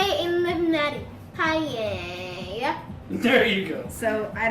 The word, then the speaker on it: paella: Paella. There you go. So I don't know how to spell that, but I'll look for it.